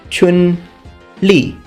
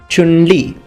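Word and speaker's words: Chun-Li: name will be pronounced Chun Li Chun Li now with Chinese names please try to imitate my pitches because Chinese is a tonal language Chun means spring and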